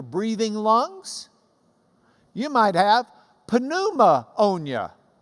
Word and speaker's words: pneumonia: You might have pneumonia. That's why pneumonia is spelled P-N, pneumonia, because it's the ammonia of the pneuma.